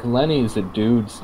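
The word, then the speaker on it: Leni: telephone call for him lenny or as other people pronounce it laney i mean i've been saying lenny this entire time so i'll keep saying i feel like laney is probably more accurate yeah it's like they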